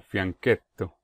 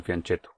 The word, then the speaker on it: fianchetto: en inglés sin embargo el término es italiano y su pronunciación es algo como fianchetto bueno de manera que en español podría ser fieto pero ya estamos acostumbrados al fianchetto Hola soy